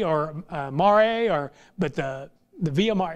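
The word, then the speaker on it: Via Maris: I think, I don't know if it's Mari or Mare, or, but the Via Mar, it's M-A-R-I-S, but I know the S is silent. I think it's called the Via Mar.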